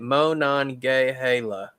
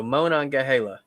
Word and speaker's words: Monongahela: train friend is already saying it mo non gay hala so monongahela i guess that's how it's pronounced it's it's supposed to